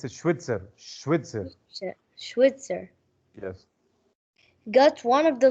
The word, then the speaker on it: Schweitzer: dr mary's who is a swoosh streetweaser don't pronounce it it's a schwitzer yes got one of the leg bones to